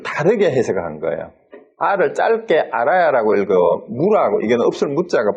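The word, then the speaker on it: ālaya: 뭐 이거는 창고라는 뜻이고 이거를 어떻게 읽었나 하면 아레아로 읽으면서 이걸 아를 길게 했어요. 아라야라고 읽어가지고 집이나 장소 저장소로 해석을 하고 아라야 비나야를 위즈나나를 장식이라고 했고 이거를 한자로 장자 대신에 택자를 써서 택식이라도 이렇게 불렀어요.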